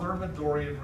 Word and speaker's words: Thermidorian: And I'll spell it for you. It's called the it's called the Thermidorian reaction.